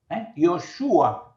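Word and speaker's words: ישוע: La segunda venida, pero el verdadero nombre es Yeshua o Yoshua. Yoshua sería la pronunciación correcta en hebreo.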